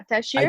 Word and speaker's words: Ataşehir: Ataşehir Belediyespor in Turkey. Yes. Okay. Yeah. Honestly, you made it a little bit more complicated. You can just say I Atashir, did okay.